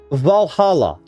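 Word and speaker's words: VA-11 Hall-A: It's called Valhalla, but it's spelled really weirdly. It's like VA11 Hall- A. That's what it's how it's spelled.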